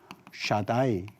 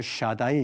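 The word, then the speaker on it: שַׁדַּי: 샤다이. 이런 말이 있는지 모르겠는데 쓰면 이런 발음이죠. 샤다이 이런 발음이고요.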